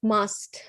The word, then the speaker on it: must: pronounce t uh we we don't pronounce tea with must if there is a verb after must so let's let's practice